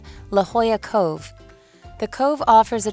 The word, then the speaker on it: La Jolla: do that again okay this is how you pronounce it this Beach Community has a popular swimming spot that is called La Jolla Cove wow it's the best I can only